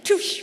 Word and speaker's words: Touche: and the Deloitte and Touche, how do you pronounce that last? Touche.